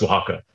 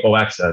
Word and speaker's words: Oaxaca: This woman just looked at me and she was like, it's pronounced Oaxaca. And I was like, what? And I was like, she's like, the place that you're saying, Oaxaca, that's not a place, it's Oaxaca.